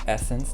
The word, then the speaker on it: SSENSE: so Essence is and yes it's pronounced Essence despite being spelled this way and Essence is a